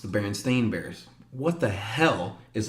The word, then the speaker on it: Berenstain: well growing up it's to me it's the Berenstein bears it's actually pronounced the berenstain bears what the hell is a Berenstain Bear